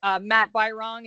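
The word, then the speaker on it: Matt Birong: Oh, I do want to say that Matt Byrong is how you pronounce the name of the chair of the House Government Operations Committee, if I could add that.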